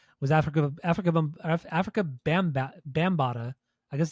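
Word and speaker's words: Bambaataa: listened to today was Africa Africa Africa bamb bambata I guess it's how you pronounce it we' I've always pronounced it wrong but it's bambata um it's that bambata it's bambata bambata that's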